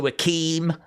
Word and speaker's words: Akeem: So he started to like channel a more African vibe and you know he changed his name to Akeem which rhymes with Raheem.